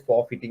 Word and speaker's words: forfeiting: for fitting you may call it as a forfeiting the pronunciation is for fitting is the correct correct pronunciation for fitting uh